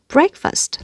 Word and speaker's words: breakfast: Breakfast là danh từ có hai âm tiết và trong đó thì trọng âm rơi vào âm đầu tiên. Vì vậy âm thứ hai, trọng âm không rơi vào nó nữa. Không còn để chữ fast nữa mà là âm ơ thôi. First, breakfast. Và cố gắng là mình không đọc thành chữ break như thế này.